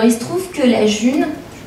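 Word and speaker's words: Ğ1: Et c'est donc ce petit rond avec un G et un titre, ça s'appelle la June, en fait. Ça s'écrit G1, mais ça s'appelle la June.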